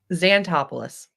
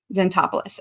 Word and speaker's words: Zantopoulos: Zantopoulos. Zantopoulos.